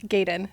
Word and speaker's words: Goeden: Gayen.